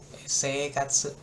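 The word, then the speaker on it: 生活: I-nya kayak nggak kebaca. Seikatsu.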